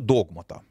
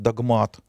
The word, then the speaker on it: догмат: богословия к понятию догмата встречается иногда другое ударение в богословском языке можно такое ударение встретить догмат такого единообразного варианта произнесения этого слова пока не выработано но мы давайте всё-таки для определённости Будем ориентироваться на вариант догмат связано Это понятие с